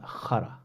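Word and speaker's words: خرا: So the word in Arabic is it's pronounced khara. Yeah, so it's like Khara, khara. And like obviously say it the same way, like khara.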